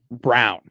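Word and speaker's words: Braun: Like Lei, if you choose to pronounce it that way. Yes. This is like when Christian Brawn is brown.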